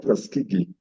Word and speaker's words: Tuskegee: Can I just help her to pronounce that word? Yeah. All right. Go ahead. Tuskegee. That is called Tuskegee.